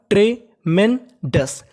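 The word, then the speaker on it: tremendous: दिख जाए ओ यूएस तो ओ यूएस को हम लोग बोलेंगे अस क्या बोलेंगे अस तो क्या बन गया हमारा ट्रे मेंडस ट्रिमेंडस का मतलब होता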